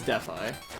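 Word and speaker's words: Dethl: called death eye, but it's spelled D E T H capital I with no space. Weird. So, it looks like death, but it's deaf eye.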